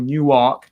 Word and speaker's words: Newark: so in Europe or Newark Delaware as they pronounce it locally they had a special